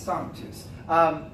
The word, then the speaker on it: sanctus: has no clue to how to even pronounce sanctus, or sanctus, sanctus, sanctus. No, it's not sanka coffee, okay? It's sanctus.